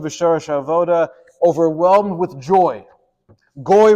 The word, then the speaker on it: גוי: Goy rhymes with joy, right?